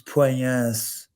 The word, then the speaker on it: Puelles: Guys, listen, in the South American languages, they don't pronounce the L's as an L. It's Puelles.